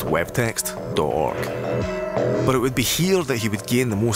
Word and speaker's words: wwwtxt.org: projects prior to launching www text or org pronounced web text dork but it would be